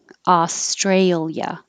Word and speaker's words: Australia: oh ooh combination owner australia australia we don't separate the i and the a here and the adjective australian